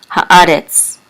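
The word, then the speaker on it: הָאָרֶץ: says Ha, the, and the Aleph is silent, but the Kamatz says A, and the Resh with a Segol and Tzadi says Retz, Haaretz, which means the earth, or the land, but here definitely means earth.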